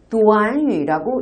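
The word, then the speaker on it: 短语: 근데 이 구가 한국어로는 구지만 중국어로는 구가 아니라 도안유라고 읽힙니다.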